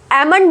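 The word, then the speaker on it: almond: अब देखो एमन बोलेंगे इसको, एल यहाँ पे नहीं बोला जाएगा, ठीक है, एल क्या है यहाँ पे, साइलेंट है।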